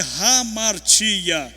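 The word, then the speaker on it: ἁμαρτία: pecaram a palavra pecado no grego a pronúncia dela é ramara que significa errar o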